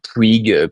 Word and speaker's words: Puig: SNCF Valeo, on a aussi des groupes comme Puig PH dans le luxe pour pour la bonne prononciation catalane ou des groupes comme GLS dans le transport.